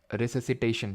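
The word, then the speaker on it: resuscitation: तो सीपीआर जो होता है आपका, सीपीआर का फुल फॉर्म होता है कार्डियो पल्मनरी, कार्डियो पल्मनरी रिसिस्टिट, जो भी यार इसको प्रोनाउंस करते हो, रिससिटेशन, ठीक है, इसको प्रोनाउंस करते हैं कार्डियो पल्मनरी रिससिटेशन, ठीक है, सीपीआर इसको बोलते हैं इन शॉर्ट।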